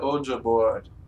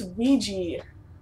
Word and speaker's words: Ouija: am I gonna die dear o board it's Ouija I know I thought